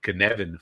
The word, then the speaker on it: Cynefin: It was pulled together by a person named Dave Snowden, who's from Wales, and I challenge anybody to pronounce this. Okay, but it's the Cynefin framework.